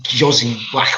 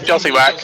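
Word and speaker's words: Jóźwiak: The two Polish lads, Bielik and I can't pronounce the other lad's name because it's Jozy Whack or something. Kamil Josiwak. That's it.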